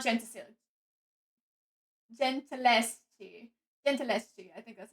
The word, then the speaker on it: Gentileschi: Gentileschi, I think that's how it's pronounced. How do you say the name again? Gentileschi.